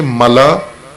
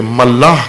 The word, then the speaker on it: ملا: بعض میں پھر بھی سنتا ہوں بعض مومنین تلفظ اس کا صحیح نہیں کرتے، ملاح کہہ دیتے ہیں. ملاح اور ہے، ملاح کشتی چلانے والے کو کہتے ہیں. یہ ہے ملا، میم لام الف اوپر حمزہ، ملا.